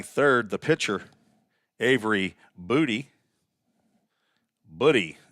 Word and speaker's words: Booty: Buddy is how you say that. Not Booty, not Buddy, but Buddy.